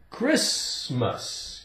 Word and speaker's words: Christmas: Christmas, Christmas. We say Chris, like a man's name, Chris. And we have mus, Christmas. It's a holiday for Christians, right? Christmas. The T is silent.